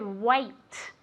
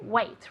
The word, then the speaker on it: weight: Weight. Repeat. Very good. Now let's get Nacho to say this word as well. Okay. Wait. Very good. Perfect. Wait. Yes. Es la misma pronunciación que esperar.